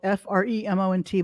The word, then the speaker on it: Fremont: called Fremont it was spelled f-r-e-m-o-n-t but it was pronounced Fremont moment people used to misspell